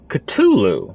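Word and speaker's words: Cthulhu: how is that possible culu not we we don't pronounce the h okay all right all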